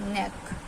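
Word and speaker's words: neck: होते हैं जैसे कि एन ई सी के नेक नेक हम बोल रहे हैं बट इसमें हमारा सी क्या है साइलेंट लेटर है ऐसे ही बीई सी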